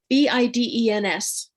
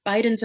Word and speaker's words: Bidens: Bidens are something that is kind of sweet for them. you spell that? Bidens. Okay, thank you. Yeah. And I think of them as abiding. Bidens abides, right?